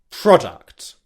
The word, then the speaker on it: product: We're going to pronounce the pr consonant combination together in the word product.